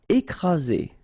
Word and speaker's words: écraser: Écraser. Okay, double vowel, only one S, Z, and then you get the first accent aigu, écraser.